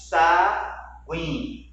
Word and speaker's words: sagui: Ó, queixa, saguim. Nesse caso aqui, eu não considero um dígrafo. Saguim, ou sagui, ou é sagui, sagui. Como o U ele é pronunciado, nós não temos um dígrafo.